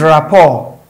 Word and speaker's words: rapport: This is rapport, rapport. And of course, the T is silent, so it does not rhyme with this.